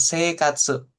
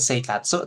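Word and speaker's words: 生活: Kemudian seikatsu. Jadi yang dipanjangin e-nya. I-nya nggak dibaca. Ya, bukan seikatsu, tapi seikatsu.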